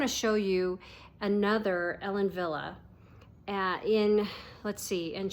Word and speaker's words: Wille: is Ellen Villa and it's spelled w i l l e pronounced Villa so this is Arrow